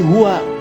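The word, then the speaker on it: هُوَ: Nah, huwa itu kalau kita ingin berhenti di huwa, maka A-nya nggak dibaca, U.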